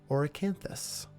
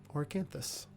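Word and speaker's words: Auracanthus: to these flowers, and it is Oracanthus, which is spelled like aura, A-U-R-A, and then C-A-N, thus, Oracanthus.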